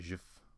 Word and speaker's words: JF: ji chant is JF do you pronounce that jiif like peanut butter yeah Jiffy chant uh